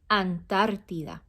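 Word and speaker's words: Antártida: ocean um oceania i believe it's the correct pronunciation in spanish oceania antarctica in spanish antarctica we say antartida ano tartida say it antartida oceans and spanish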